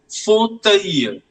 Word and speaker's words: fauteuil: It is fauteuil. Fauteuil. The last L is not pronounced.